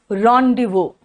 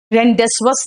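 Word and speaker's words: rendezvous: इसका प्रोनाउंसिएशन है रॉन्डिवो। रॉन्डिवो, रेंडेसवस नहीं है, रॉन्डिवो, यानी कि जेड वगैरह का तो प्रोनाउंसिएशन नहीं आ रहा है, एस का भी कोई प्रोनाउंसिएशन नहीं है ना।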